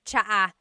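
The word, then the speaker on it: tsaa: good almost polyglot said it's like the word cha cha in theog is tea like the tea that you drink and it's spelled TSA a cha cha that's such a talog spelling I love it there's the TS sound and then the double vowel uh pronunciation cha it's so talog yes very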